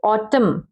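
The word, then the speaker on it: autumn: N means जैसे ऑटम, ऑटम, ठीक है, एन क्या है, साइलेंट है।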